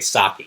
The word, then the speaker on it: sake: you don't know Japanese you think it rhymes like dump the snake in the state but it's actually sake so it's kind of